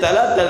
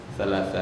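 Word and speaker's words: ثلاثة: Talata riyal. Mana ada talata? Yang ada salasa riyal. Orang Arab kok nggak salah, Ustaz selalu bilang talata riyal.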